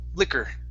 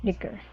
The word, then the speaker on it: liquor: now this word here even though there's an o r at the end it's pronounced with an er liquor liquor okay very good uh